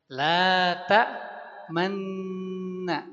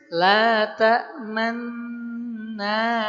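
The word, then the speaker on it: لا تأمنا: Bacanya Bapak Ibu jangan sampai la tamanna bukan begitu tapi boleh perhatikan bibir saja. Laa tamna ala Yusuf.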